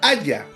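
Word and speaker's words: הָיָה: Pero el verbo hebreo en ser se pronuncia haya.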